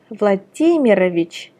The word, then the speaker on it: Vladimirovich: For example, Vladimir, where the stress is on I on the first name, which becomes Vladimirovich, and the stress is still the same on I in the patronymic.